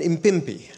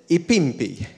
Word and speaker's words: impimpi: would call him an impimpi and but i didn't pronounce that word correctly and i i pronounced i said ipimpi which sounds the same hey empi so any